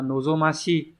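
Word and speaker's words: 望み: ờ chữ Hán là chữ vọng từ này đọc là Nozomi Nozomi này có nghĩa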